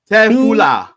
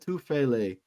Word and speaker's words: Tufele: It's only 3 syllables. We can. You got this. Tefula. Oh no! Chill. I see. I messed it up, bro. I messed it up. Tufele. That's all it is. Tufele.